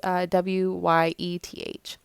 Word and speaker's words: Wyeth: I believe is how you say his name. It's Wyeth.